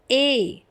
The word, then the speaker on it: et: And let's see this one, A. And one more thing, do not pronounce it like it, okay? It is A.